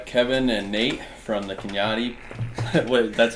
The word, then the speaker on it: Kanati: here with uh Kevin and Nate from the Kenyatta what that's how you pronounce it right yeah you guys can find